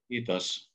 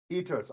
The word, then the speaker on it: Kiitos: Kiitos. Kiitos.